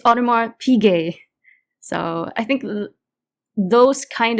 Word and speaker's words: Audemars Piguet: stitched that and this this kid say uh look at this mars piguet that i have and he he stitched it in it's audemars piguet so i think those